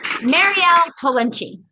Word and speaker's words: Mariel Tollinchi: Let's welcome to the show, Mariel Tollinchi. Mariel Tollinchi. Mariel, is that the pronunciation?